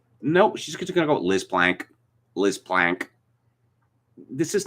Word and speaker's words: Plank: Someone called Liz Plank, and this is again a violation of my two-name rule, Plank or Planck, it's pronounced in the German fashion.